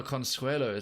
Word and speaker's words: Consuelo: Oh, Consuelo. That's how it's pronounced.